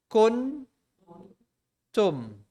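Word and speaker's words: كنتم: So kaf, noon is kun, tum, kuntum, kuntum.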